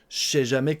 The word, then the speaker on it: je sais jamais: On mange le ne de la négation et on mange le e du pronom personnel je.